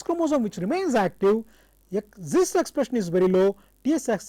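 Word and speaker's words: Xist: what is called as XIs s pronounced as zist and tsic or T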